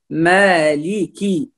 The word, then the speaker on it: مالكي: لا نختلس الكسرة وإنما نتم الكسر في اللام والكاف، فنقول مالكي مالكي، ولكن لا نقول مالكي، هنا يكون ياء كأنه لا، هنا كسرة فقط، فنقول مالكي يومي مالكي،